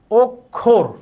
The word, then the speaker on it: অক্ষর: এখানে অ আছে বাদ, অক্ষর, আমরা কি অক্ষর বলি নাকি অক্ষর বলি, আমরা অক্ষর বলি না, তাহলে এটা বাদ হবে কি অক্ষর, এইটা উচ্চারণ।